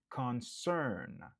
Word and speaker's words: concern: Il y a 2 syllabes, n'a accentué sous deuxième nan. Cern. Concern.